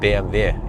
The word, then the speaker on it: BMW: back home so um BMV yeah I know that one I've been pronouncing it correctly and then people have been trying to correct me like no B I like your videos but it's BMW well but why do people